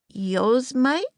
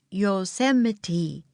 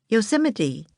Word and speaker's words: Yosemite: "Yosemite?" said Annie. Jack laughed. "No, it's pronounced Yosemite," he said. "Yosemite."